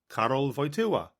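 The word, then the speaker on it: Karol Wojtyła: It took the BBC half the afternoon just to teach their reporters to pronounce his name, Carroll Voya.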